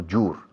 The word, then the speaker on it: your: No, your. No digáis your book. Your book. Your. Hielo, hiedra, hierba, your.